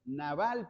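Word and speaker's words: נבל: la traducción de una palabra hebrea que se pronuncia s naval pero una cosa muy muy chistosa aparece en la Biblia naval naval tiene que ver con una historia que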